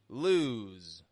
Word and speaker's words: lose: as you can hear one is longer than the other lose l o e lose stretches out more because s is voiced whereas loose loose a